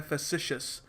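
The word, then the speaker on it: facetious: इसको प्रोनाउंस करने का तरीका होता है फेसिशियस।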